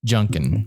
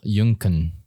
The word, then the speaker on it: Junkuhn: it easy for the lazy people yeah Junkin yeah hi how do you pronounce it properly go and pronounce properly oh junkan yeah I like that that's it's dope yeah